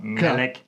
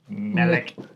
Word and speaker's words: Melik: Melik. You have to say it like that. Melik.